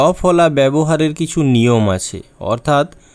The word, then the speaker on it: ব্যবহার: যেমন ব্যবহার ব্যস্ত ইত্যাদি।